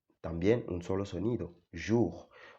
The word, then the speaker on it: jour: Y la J, la O y la U también un solo sonido, jour.